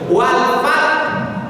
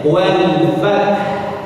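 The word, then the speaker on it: والفتح: Wal fath dibaca dengan cara mewakafkan, haknya dibuang. Harusnya haknya dibunyikan bunyi habisnya. Wal fath.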